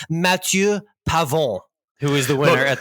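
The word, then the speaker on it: Matthieu Pavon: and and let me let me frankophone it up for the people who are offended by your Americanized pronunciation it's Matthew pavon who is the winner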